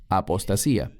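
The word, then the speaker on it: ἀποστασία: La palabra aquí es apostasía, en griego, que se pronuncia igual, apostasía.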